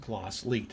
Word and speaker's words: Glasslite: When you go to Brazil, it's pronounced Glasslite, and so that's the way we'll talk about it today.